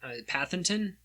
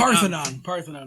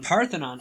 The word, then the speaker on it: Parthenon: But, he purchased this cave in Arkansas, in Pathenton. I think that's how you pronounce it. But, Parthenon. Parthenon. Oh, yeah. Shoot. Like the Greek Parthenon.